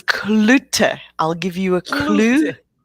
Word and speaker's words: Cloete: we talk almost every day and i still mispronounce her last name it's clutter i'll give you a clue okay yeah i'm